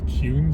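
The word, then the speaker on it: Kuhn: just to remind everybody this is cun Street you'll hear that referred to often C Street and it's spelled KU hn C Street if I made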